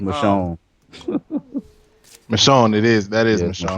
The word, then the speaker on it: Michonne: I know how to pronounce that. M. The Walking Dead M. That'll do. It's Michonne.